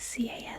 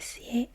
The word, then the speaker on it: CAS: the time of the C hearing appears after the issuance of the cas decision it would be possible I'm pronouncing it C I think it's usually pronounced Cass just want to acknowledge